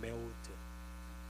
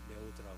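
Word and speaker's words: מאוד: 근데 우리말로 매우 단어가 히브리어로 발음이 좀 비슷해요. 있는 메우드 히브리어로는 메우드라고 하는 단어를 사용하 우리는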